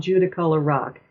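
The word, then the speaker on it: Judaculla Rock: get this wrong, uh, Judacula rock, not far from Kohi, Northakota." I'll give you the English pronunciation. I because I cannot say it in Cherokee. Uh, it's commonly called Judicola Rock and it's um about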